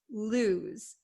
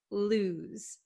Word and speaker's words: lose: these right um so make sure you understand the pronunciation lose lose it's not Lo and it's not loose okay it's lose z z okay this s sounds like a z lose lose so what